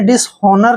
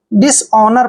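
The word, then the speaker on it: dishonour: को र पढ़ते हैं ओनर डिस ऑनर आपने डिस होनर नहीं पढ़ना है डिसनर पढ़ना है डि नर का मतलब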